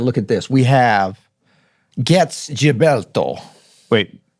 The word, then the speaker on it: Getz: jilberto or Gilberto jilberto so is it GS or jets it's definitely gets St get so gets with a G but jilberto with